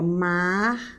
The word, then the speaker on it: mártires: Se você separar as sílabas dessa palavra, olha aqui, ó. Mártires. Opa, a sílaba forte dessa palavra está posicionada onde? Última, penúltima, antepenúltima. Opa, então peraí, essa palavra aqui, ela não é paroxítona. Ela é proparoxítona.